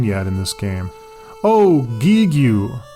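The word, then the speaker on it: Giegue: Oh, Gigue! This word is spelled G-I-E-G-U-E, which could be pronounced a variety of ways, but I'll just say Gigue.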